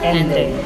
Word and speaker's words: Anray: Yeah, welcome, Anray. Yes. Is that how you pronounce That's how you pronounce it. Anray? Okay. Anray.